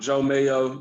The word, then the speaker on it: Jeaux Mayo: So I'm Jeaux Mayo. You spell that Jeauxmayo. Joe, the French way, and Mayo, just like mayonnaise.